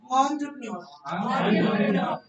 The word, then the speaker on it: entrepreneur: The pronunciation is entrepreneur.